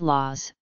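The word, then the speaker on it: لوز: The Arabic name for almond is laz or lz. In some parts of the Levant and North Africa it is pronounced laz, which is very close to its Aramaic origin.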